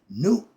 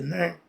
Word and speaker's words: Nut: And when it's the Nut, her name is spelled N-U-T. We spell it we pronounce it Nut. Okay, Nut. In Egyptian, the U sound like the the double O sound, Ooh.